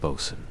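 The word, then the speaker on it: bosun: You'll inevitably cross paths with the Bosan, pronounced Bosan, of course, because sailors, as you'll learn, have a playful knack for keeping outsiders perpetually guessing.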